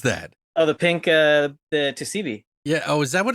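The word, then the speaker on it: 2C-B: That is TCB. No, Tusibi. Like, 2CB.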